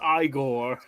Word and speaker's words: Igor: And he looks at me, he's like, actually, it's pronounced Igor.